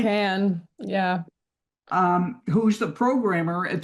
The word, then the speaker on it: Kann: It's pronounced Kann, It's right? Can, yeah.